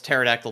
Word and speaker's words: pterodactyl: dactyls or something uh it was Terry Nichols pterodactyl terrorists yeah yes um and then the Godzilla